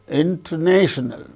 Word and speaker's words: international: and below the syllable similarly interational International inter so the third syllable gains primary stress first syllable gains secondary stress that way in the